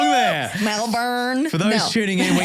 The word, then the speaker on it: Melbourne: Melburn.